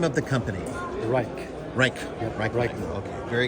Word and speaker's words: Rike: Rike.